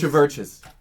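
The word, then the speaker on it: CHVRCHES: It's Churches spelled with a V. They've been around for a while, but I just discovered them this year. It's Churches. Oh, so the U is a V.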